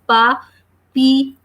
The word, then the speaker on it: papillon: Then the last letters are ON, which are nasal vowels or which give nasal sounds, and they are pronounced as O. So that's why we are reading this word like papillon.